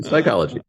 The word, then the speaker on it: psychology: Why is there a P? You don't say psychology, you say psychology.